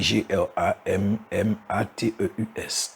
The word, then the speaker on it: grammateus: Donc ça s'écrit G-R-A-M-M-A-T-E-U-S. Donc ça se prononce selon le lexique grammateus.